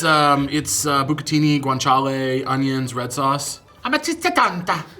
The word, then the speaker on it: amatriciana: Amatriciana. I'm not saying it right. An Italian person, you know how they talk. They'd be like, Amatriciana.